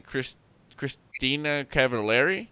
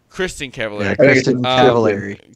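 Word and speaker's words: Kristin Cavallari: And then Christina Cavallari? Is that how you say it? Christina Cavallari? Kristen Cavallari.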